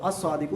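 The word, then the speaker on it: الصادق: है ना अ साद लाम लिखा तो हुआ है लेकिन साइलेंट है बोला नहीं जा रहा तो अस सादिक ये शमसी रू में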